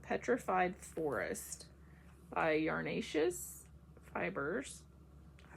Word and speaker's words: Yarnaceous: The name of this sock set is called Petrified Forest by Yarnaceous Fibers.